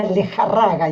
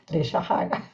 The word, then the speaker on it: Lejarraga: No espanhol se pronuncia Lejarraga e aqui se pronuncia Lejarraga.